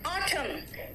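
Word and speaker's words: autumn: एन कहाँ silent है देखो तो, इट्स सोलेम, एन है लेकिन मैंने क्या कहा, सोलेम, ऑटम, हेम, मंत्र को हेम कहते हैं, हेम नहीं कहते, कॉलम, एन साइलेंट है ना।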